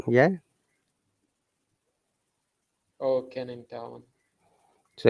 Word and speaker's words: Canning Town: tavern canyon town yeah g is not sounded canning town yeah oh can in town so it's a place